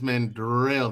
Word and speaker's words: Manderelle: i want to ask mandel this question this is uh this is the mother the pronunciation of my name is manderelle there's an r in that name i know how to